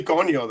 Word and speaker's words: coño: English and then She throw say in a coño.